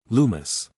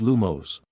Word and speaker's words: Lumos: Lumis. Lumos. Llama. Come on. Not one of you said the right word. It is Lumos.